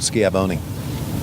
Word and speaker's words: Schiavone: They always get my name wrong. Schiavone.